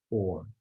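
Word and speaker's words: אור: And the word light is written aleph vav resh, but it too is pronounced or.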